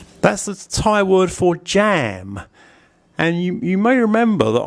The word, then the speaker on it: ja: It's like the German word for yes, ja. It's written with a J but pronounced with a Y.